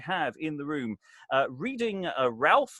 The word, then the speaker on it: Ralph: And it's a big room today, so we have in the room reading Ralph, or possibly pronounced Rafe, is Alexandra, and when I'm not in confinement, I act professionally.